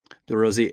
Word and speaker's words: DeRosier: Is that how we're agreeing to pronounce his name? DeRosier. Yeah, I went to the UMass site earlier and listened to him say it, and it was he has a heavy French accent, and it was DeRosier.